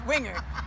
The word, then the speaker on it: Wingert: about acting as Sally Wingert on topics Sally Wingert would never say.